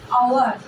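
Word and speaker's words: hour: আওয়ারটা আমার এইচ আছে, তুমি বলতে পারো ম্যাম কনসোনেন্ট আছে, এ বসাবো না, আওয়ার, আ, আ উচ্চারণ করছি, যার জন্য এর আগে বসবে অ্যান আওয়ার।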